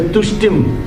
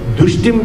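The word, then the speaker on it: तुष्टिं: The Lakshmi Ashtotram also, there is a Preeti Pushkarini, there is a Tushtim Daridryanashini. Then if you say Dushtim Daridryanashini, Lakshmi Devi you are calling Dushti. So Tushtim Daridryanashini.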